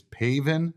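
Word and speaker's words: Pavin: to pronounce Pav's name it's paven Smith paven uh pav not pav just need to get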